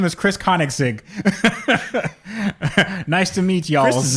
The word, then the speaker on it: Koenigsegg: I actually talked to Christian von Koenigsegg. Okay. I am name dropping here, and he says the name of the company is Koenigsegg. That's what he said. He said, "Hey, my name is Chris Koenigsegg.